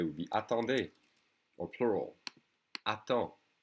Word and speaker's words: attends: Wait in an informal way would be attends, attends. Okay? And in a formal way would be attendez, or plural. Attends. The D and the S are silent.